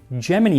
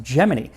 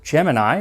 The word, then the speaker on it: Gemini: were making it into space on the upcoming Gemini missions. And yes, it's pronounced Gemini. I always thought it was Gemini, like, the zodiac sign, but according to NASA